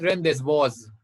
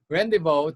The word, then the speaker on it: rendezvous: rendezvous this is not rendezvous because this is uh this is a borrowed french award so you have to follow the french pronunciation rendezvous to celebrate their efforts